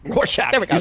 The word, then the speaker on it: Rorschach: Like a Rochblot or whatever that's called. Rorschach. Rorschach.